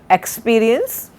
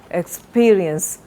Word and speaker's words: experience: evidence, expenditure, experiment, experience, not experience, experience. Stress is on the second syllable.